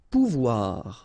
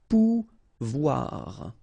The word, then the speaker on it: pouvoir: Pouvoir, okay, remember when you combine this O and U, you get the sound OU, okay, and when you combine this O and I here, you get the sound OUA, okay, so pouvoir, pouvoir.